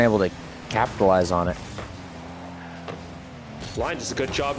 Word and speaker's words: Blind: Blind. That's Thank you. Basically Brian, but with an L.